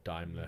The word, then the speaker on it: Daimler: So and Daimler or Daimler, however you want to pronounce it, depending on where you are in the world.